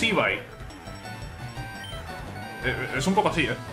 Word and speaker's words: Eevee: No, se pronuncia la pronunciación, es Ivai.